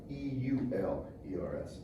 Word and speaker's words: Euler: Like the old Houston Oilers, only spelled with E-U-L-E-R-S, not O-I. It's Euler's identity.